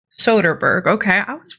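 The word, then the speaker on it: Soderbergh: in this business this is her okay see soberg I need to figure out how to pronounce his name Soderberg okay I was right I was right the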